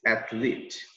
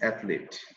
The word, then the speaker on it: athlete: sound long a so it's not accurate it's athlete i'm saying again it's athlete okay a person who is very good at